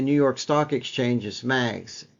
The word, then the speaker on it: MAGS: symbol on the New York Stock Exchange is mags M A GS mags I'll spell it phonetically Mike Alpha go Sierra and we